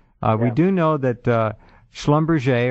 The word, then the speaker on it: Schlumberger: do know that Schlumberger, or Schlumberger as some people pronounce it.